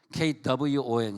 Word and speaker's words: Kwon: Kwon 시작.